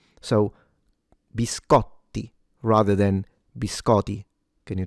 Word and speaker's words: biscotti: It's bis co the t is double. So not only you have to pronounce it like a t but also yeah it has to be stronger or longer. So biscotti rather than biscotti.